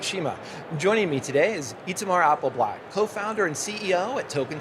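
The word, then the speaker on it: Itamar Apelblat: And thanks for pronouncing my name exactly how it sounds.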